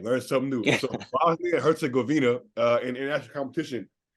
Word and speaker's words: Herzegovina: say the second part of that Bosnia and Herzegovina ah all right learn something new Herzegovina uh in international competition how before we get